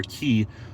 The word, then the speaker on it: Qi: a look at two key or that's that's that's how it's pronounced Qi or key um wireless charging systems